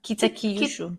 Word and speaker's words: Kitakyushu: And the city where this nursing home is, see, anything I try to pronounce in Japanese, it's not going to be Kitakyushu. Where are you? Right there. Yeah. Kitakyushu.